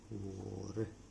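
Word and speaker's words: war: वॉर means युद्ध, इसका उच्चारण होता है वॉर। तो भले इसमें ए है लेकिन इसका उच्चारण इस तरह से होता है ओ की तरह। तो हम इसे पढ़ते हैं वॉर।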